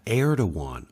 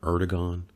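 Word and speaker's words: Erdoğan: be to say that heir to one of Turkey which I think is actually how his name is pronounced not erdogan so I apologize but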